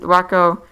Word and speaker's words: Whakko: It's pronounced Wacko.